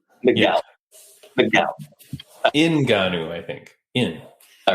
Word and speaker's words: Ngannou: were going to announce the signing of Francis Ngannou. I had prepared this poster to launch this week thinking 100% this is what's about to happen. And that's what I think was expected to happen. Ngannou.